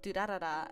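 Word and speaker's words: Durarara!!: There's this lovely anime called Durarara, and it actually is D-R-R-R, right? It's just, it's supposed to be pronounced duh, and then rolling your R's.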